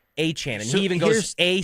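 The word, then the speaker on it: Etienne: last name and it's Achan like the running back in Miami like Devon Achan.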